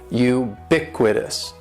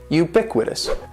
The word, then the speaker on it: ubiquitous: is ubiquitous and ubiquitous has four syllables that first syllable is is just like you're saying the letter U u BIC with this and the stress is going to be on that second syllable ubiquitous ubiquitous ubiquitous ubiquitous